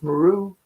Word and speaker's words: Meru: And I say it like that, me are you. Spell that. N-E-R-U. Mount Meru.